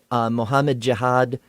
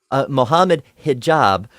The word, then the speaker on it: Mohammed Hijab: I'll never forget that time when Alex O'Connor took on Mohammed Jihad and I've said his name wrong. I'm sorry. Mohammed Hijab, and I forget who the partners were.